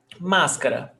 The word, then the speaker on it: Máscara: Máscara. Máscara. Proparoxytona.